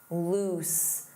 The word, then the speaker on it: loose: Notice that pronunciation. Loose. Loose. This means not tight.